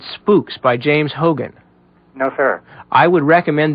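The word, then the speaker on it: Hougan: Um, have you read a book called Spooks by James Hogan?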